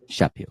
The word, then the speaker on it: Chaput: Let's welcome to the show for the first time, Roxanne Chaput. Did I pronounce that right?